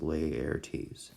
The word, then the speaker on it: Laertes: Okay, one of them, his son, is named Laertes, Laertes, and his daughter named Ophelia. So I know Laertes is spelled a little bit strange, but it's not a weird pronunciation. It's just Laertes, okay?